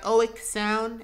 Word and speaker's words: Oeksound: It's by Oek Sound, and I think that's how you pronounce their name.